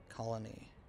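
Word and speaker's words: Colonie: Albany's not very far, but for the actual proper town I'm in, it's called Colony. C-O-L-O-N-I-E. Colony. Some people think it's spelled like the normal way, but not quite.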